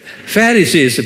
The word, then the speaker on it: Pharisees: 한번 발음해 보세요. Pharisees, 액센트가 Pharisees 그래요.